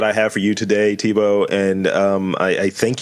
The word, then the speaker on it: Thibault: from France and in in France they'll put eight letters in a word and only pronounce like three of them in my case uh